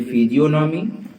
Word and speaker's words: physiognomy: तो इसे कहते हैं फिजियोनॉमी या एंथ्रोपोस्कोपी। ध्यान से देखिएगा, फिजियोनॉमी, स्पेलिंग इसकी है PHYSIOGNOMY, PHYSIOG जो है ये इसमें साइलेंट है, फिजियोनॉमी आता है, NOMY, PHYSIOGNOMY, फिजियोनॉमी, मुख विज्ञान।